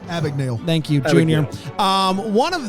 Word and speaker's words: Abagnale: Abagnale.